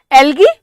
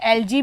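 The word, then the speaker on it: algae: सो एल्गी क्या है बेटा, देखो एल्गी या कहीं कहीं लोग इसे एलजी भी बोलते हैं, मैं हमेशा दोनों चीजें प्रोनाउंस करती हूँ ताकि कोई ऐसा डाउट ना रहे।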